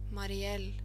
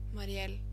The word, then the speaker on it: Mariell: And then from Musiful, how to pronounce Marielle. Marielle. Marielle. Marielle.